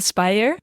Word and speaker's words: Speijer: Henry and today we're with uh scientist daavid Spire nicely pronounced perfect Spire is a science scientist lecture